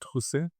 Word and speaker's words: Trousset: Please pronounce your own surname so that I understand as well. My surname is Trus and my first name is.